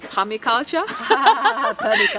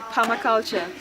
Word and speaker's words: permaculture: me and you know before I used to pronounce it as Tommy culture yeah but it got it right Palma culture before he had been